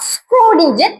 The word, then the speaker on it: Schrödinger: இது வந்து ஜெர்மன் லாங்குவேஜ்ல இருந்து எடுக்கப்பட்ட வேர்ட். ஓக்கு மேல பாருங்க 2 டாட் வச்சிருக்காங்க. இதை எப்படி ப்ரொனவுன்ஸ் பண்ணணும்னா ஸ்க்ராடின்ஜர் ஈக்குவேஷன் ப்ரொனவுன்ஸ் பண்ணணும்.